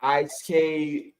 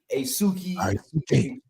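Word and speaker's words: Aisuke: s u k e it's pronounced I not ice asuki used should call me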